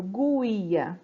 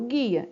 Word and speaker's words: guia: vou mostrar alguns exemplos o guia então você não escuta falando ghuia né eu falo guia então o som do ele fica apagadinho ali então guia é um dígrafo a água se eu